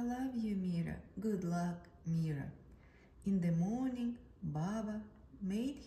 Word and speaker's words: Mira: couldn't say it right they stretch out the eye until it sounds like an e and way sounded wrong